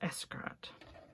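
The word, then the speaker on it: Xcaret: It's spelled Xcart, Escarat, I think. But it's pronounced Escarat, I think.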